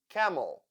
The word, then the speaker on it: camel: e e e item camel the second syllable is unstressed that is why e sounds like u e e camel I as sound schw